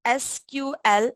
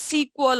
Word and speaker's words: SQL: to pronounce it, okay, there's a two ways to pronounce it. Either you can spell it like SQL as in short form, okay, or you can directly say as SQL also. Okay, so both of the pronunciation are correct. You can go for whichever you like. Whichever you want to prefer to pronounce, you can go for that. For me, I prefer to say it as SQL.